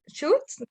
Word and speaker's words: should: Ahí no pronuncias la L, o sea, no pronuncias el should, no, should. O sea, como terminado en T. En D de dedo.